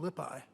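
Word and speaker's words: Lippi: painter uh fra lipo lipi who I'm afraid Browning actually pronounced as lipo LIPA and there he is and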